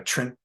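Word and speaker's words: Trimpe: Am I pronouncing that correctly? I think Herb Yeah. Trimp is correct, although I don't think anybody was a huge Herb.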